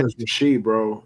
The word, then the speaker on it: Rashee: It's Rasheed, bro.